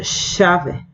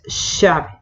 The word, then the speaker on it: chave: CH, aquí hay que tener en cuenta esta pronunciación, va a ser chave, chuveiro. No tiene sonido de chancho, ¿sí? No existe sonido chancho, es chave, chuveiro, va a sonar sh, ¿sí?